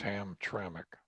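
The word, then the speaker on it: Hamtramck: detroit in hemtramic michigan a lot of people have a hard time saying hemtramic don't they that's right well you kind of want to just say two uh syllables ham tranq yeah yeah where it's but it's ham trammic yeah um well they're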